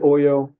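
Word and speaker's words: Ollo: of people versus oo I pronounce it Oyo I've heard it pronounced a bunch of different ways um so apologies if that's not the actual pronunciation but oil was a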